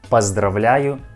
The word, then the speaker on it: поздравляю: This word has a second letter O, but this letter O we pronounce like A. Поздравляю. Поздравляю. Not поздравляю. Поздравляю.